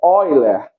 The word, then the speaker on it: Euler: É escrito Euler, mas a pronúncia é Euler, que ele é um matemático alemão, né?